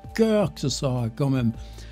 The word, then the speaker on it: Kirk: Ouais, j'ai décidé de ne plus dire George Kirk. Ça c'est des espèces de prononciation fossile. La première fois, tu vois ça puis tu le Ça fait des années que j'avais Kirk Kirk Kirk Kirk. Ben non, maintenant on va dire George cœur que ce sera quand